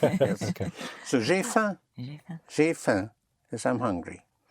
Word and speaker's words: faim: Hunger in French is a tiny little bit of famine, which is pronounced faim. Faim. Spelled F-A-I-M, but you don't even sound the M.